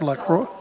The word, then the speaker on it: Lacroix: Lacroix. You're pronouncing it right, but I use it in English because most people have trouble to pronounce it.